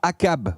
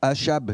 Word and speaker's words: Achab: Est-ce que vous savez qui est le roi Akab ou Achab selon la prononciation ? Akab ou moi je dis Akab, d'accord ?